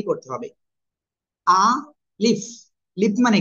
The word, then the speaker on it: ألف: এটা উচ্চারণ করার জন্য আপনার জাস্ট কি করতে হবে? আ লিফ।